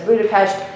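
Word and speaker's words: Budapest: sucks Andrew she's pretentious she says buda-pesht that's the correct pronunciation she I mean II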